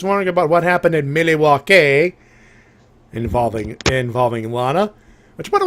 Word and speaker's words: Milwaukee: And the natives actually pronounce it Milwaukee. Milwaukee.